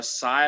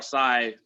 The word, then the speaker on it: Sy: It was starring Omar Sy, I believe is how you pronounce his last name, S-Y.